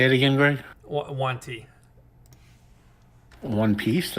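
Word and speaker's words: yuan-ti: take you that's okay I pronounce it like a one yeah on that's fine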